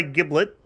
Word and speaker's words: giblet: It begins with a harsh sound, not a soft one, obviously.